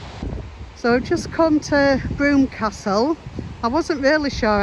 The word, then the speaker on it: Brougham: in has told me it's the most mispronounced Castle name in the country so it is broom Castle so I don't know